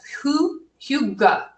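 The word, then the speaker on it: hygge: have a little practice with this but it's it's spelled differently than it sounds it's Who Hugo and I never feel comfortable saying it but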